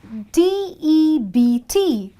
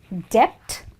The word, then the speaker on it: debt: stand for this rule so D EBT is not Dept it's debt why because B happens to